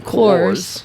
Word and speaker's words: Coors: Karen, how do you say it? Cause. Yeah, but how do you really say it? Cores. For us English people. Coors. Yeah. You got to put Coors. an R on there.